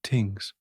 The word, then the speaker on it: thing: In Germanic societies, law was remembered and applied by assemblies of free men called things pronounced tings, the gentle rustling of leaves in ancient European forests creates a soothing soundsscape as we explore these distinctive legal traditions.